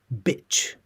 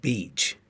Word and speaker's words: bitch: This is not beach.